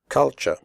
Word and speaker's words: culture: The first U is pronounced like the U in but, and the last syllable is pronounced ch.